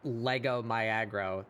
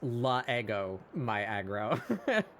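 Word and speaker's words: L'Ego my aggro: You pronounce the first letter like as a syllable. You don't blend that first letter past the apostrophe. So that's not Lego my aggro. That's La Ego my aggro.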